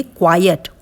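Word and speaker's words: quiet: यदि क्यू यू आई ई टी है उसे हम पढ़ेंगे क्वायट।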